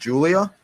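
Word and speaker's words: Giulia: no not is oh is is it just Julia yeah that's her name Julia oh okay CUA it was a because her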